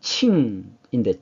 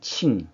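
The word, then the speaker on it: 請: 이것이 이제 중국 발음은 칭인데 칭.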